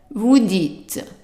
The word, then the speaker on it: vous dites: And then also we have here the IT, but this time the T is pronounced, but the ES not pronounced. So how would you read the whole thing? Vous dites.